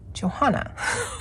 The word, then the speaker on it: Johanna: basford's world of wonders now we share the same first name i call her joanna because i want to say that's how i've heard people say her name i say my name johanna so if you're wondering why i'm calling her that i think that's how she says it but if it's